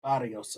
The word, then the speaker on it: Barrios: Boo, that's pronounced Barrios, okay? In Espanol, it's Barrios.